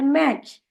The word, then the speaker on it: match: एफ का उच्चारण फ, ई का उच्चारण ए, और जब कभी भी किसी भी शब्द में TCH यह शब्द एक साथ आता है तो हम उसका उच्चारण करते हैं च। इसीलिए MATCH होता है मैच, CATCH होता है कैच, और FETCH होगा फैच।